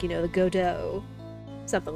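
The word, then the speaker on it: Godot: a prosecutor Gobo it's not goo it's godo your honor I guess in a way that gives you an idea of how to pronounce his name cuz I know like I could see people mistaking it for like God do or go or whatever but it's like it's supposed it sounds French almost where it's like you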